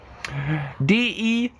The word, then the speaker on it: debt: kind of weird right DBT dab de de silent B just that that we